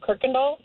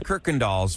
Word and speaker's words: Kirkendall: Like we lived at the beginning off of Kirkendall. Okay. And there's no R in that word. Right. I have no idea why it's pronounced like that.